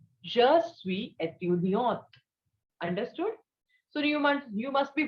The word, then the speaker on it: étudiante: So its pronunciation is étudiant. And one with E is for the female student. So it is étudiante.